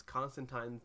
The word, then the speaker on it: Constantine: one but they pronounce Constantine's name right it's constant time rhymes with line that that's a quote